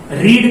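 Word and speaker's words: read: ही, रीड का second form है रीड, इसको पढ़ेंगे अब रेड।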